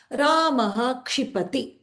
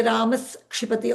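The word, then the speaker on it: रामः क्षिपति: Ramaha kshipati. I won't say Ramas kshipati or Ramashipati or something like that. I will say Ramaha kshipati.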